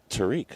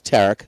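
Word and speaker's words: Tarik: Skeens with his Tarek or Tariq? Tariq, huh? It's Tarek.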